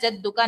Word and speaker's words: جَدُّكَ: جدُّكَ میں دیکھیں دال ہے, دال حروف قلقلہ میں سے ہے, اور جب بھی حروف قلقلہ مشدد ہو یعنی اس کے اوپر تشدید ہے دال کے اوپر, تو جب حروف قلقلہ مشدد ہوتے ہیں تو ہم نے اس کو جماؤں کے ساتھ ادا کرنا ہوتا ہے, ظاہر نہیں کرنا ہوتا.